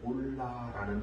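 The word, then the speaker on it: עֹלָה: 그 말씀에 보면 이제 번제라는 단어가 3절에 나오는데 그 번제라는 단어는 올라라는 단어입니다. 올라, 번제, 그래서 올라. 이 올라라고 하는 발음을 할 수 있는 이 단어는 그냥 번제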